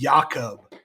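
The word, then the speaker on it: Jakob: That's like pronounced Yakob. Like not no Jake, no Jacob right there.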